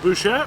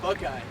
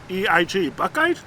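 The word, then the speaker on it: Buchheit: You pronounce it Bouchette?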